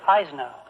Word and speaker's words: Eisenhower: your own ochsner and eisenhower oh they used to pronounce that eisner what do they yeah